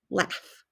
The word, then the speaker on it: laugh: just told you that a u and a w makes the sound of ah do you hear ah in this word laugh no you hear a short a that's what makes it a trick word so we have o